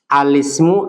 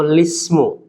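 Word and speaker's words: الاسم: Apabila seseorang hendak memulai bacaan dengan alismu ini, maka dia membacanya menjadi alismu atau lismu.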